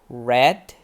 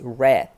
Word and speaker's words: read: for read we have red be careful the spelling is the same yeah we write read the same but the past is different pronunciation it's red like the color color red red um for eat we